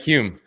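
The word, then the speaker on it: Hulme: Hume. The L is silent, Nick. The L sorry, is. silent. Hume.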